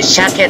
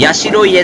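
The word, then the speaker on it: 社家: まして、社会の社に家と書いて、車系と呼びます。社家ではありません。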